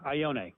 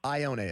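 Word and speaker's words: Ioane: Yeah, Ione. Ione.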